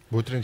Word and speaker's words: Utrecht: This summer I visited, I hope I pronounce it right, Utrecht? Utrecht, yeah.